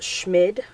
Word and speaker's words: Schmid: It's Schmid, I think is how you say it.